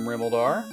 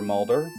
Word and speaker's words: Rimuldar: As Fred picks up his Erdrick's token in Rimuldar, or Remolder, depending on what syllable you put the emphasis on.